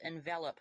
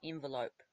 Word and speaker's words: envelop: It's pronounced envelop, not envelope.